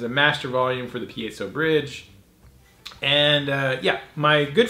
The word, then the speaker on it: piezo: it does have a piezo pickup people get fired up and say it wrong piezo pie zone chocolate pizza